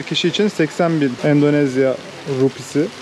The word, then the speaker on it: rupiah: Her bir kişi için 80 bin Endonezya rupisi. Rupiah diye yazılıyor, rupi diye okunuyor galiba.